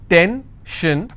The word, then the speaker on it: tension: n tension pension so how many syllables in tension 2 10 shin i will stress on 10.